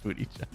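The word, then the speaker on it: Buttigieg: pullback that's funny is it really pronounced a booty judge yes it's really pronounced booty judge or about as close to booty judges you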